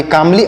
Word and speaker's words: calmly: यहाँ पर यल का प्रोनाउंसिएशन नहीं किया जाएगा और बाकी सबका प्रोनाउंसिएशन किया जाएगा और यल को लिखा जाएगा लेकिन पढ़ा नहीं जाएगा, जैसे यहाँ पर हमने आपको लिख के बता दिया।